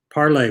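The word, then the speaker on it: Parler: Parlay, well pronounced French for speak.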